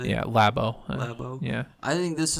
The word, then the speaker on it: Labo: Yeah, Labo.